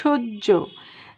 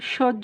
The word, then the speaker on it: সহ্য: খেয়াল করো, খুবই ইম্পর্টেন্ট একটা বিষয়, যে উজ্জ সহ্য দাহ্য, এই যে জফলা, সবগুলা জফলাতেই যেখানেই হয়ের সাথে জফলা আছে তার উচ্চারণ হবে ঝয়ের মতো।